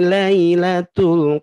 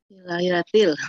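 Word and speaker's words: لَيْلَةِ: Inna anzalnahu fi lailatul qadr. Betul salah, Bu. Halo, Bu. Ini pada ini, Teh. Inna anzalnahu fi lailatul qadr. Itu kan salah. Harusnya lailatil fi lailatil qadr.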